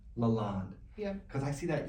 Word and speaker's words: LaLonde: pronounce your last name Lalonde Lalonde yeah because I see that e on the end I keep forgetting it's not a long day the E is silent it's French I don't speak French